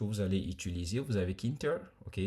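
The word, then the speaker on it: Tkinter: allez utiliser, vous avez kinter. OK, ça s'écrit tter mais généralement pour la facilité, on va pas lire le T devant quoi.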